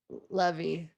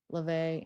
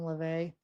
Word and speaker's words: LaVey: Anton Levy. Is that how you say it? And Anton Levy. LaVey, Anton LaVey.